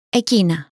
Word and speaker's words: εκείνα: Εκείνα, those, εκείνα, εκείνα.